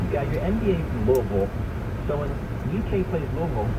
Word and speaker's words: Louisville: As long as you don't pronounce the hard S, we're in good shape. Yeah, good stuff. Louisville.